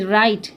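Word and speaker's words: write: রাইট ডবলিউ আর আই টিই রাইট। ডবলিউ কি এখানে? Silent.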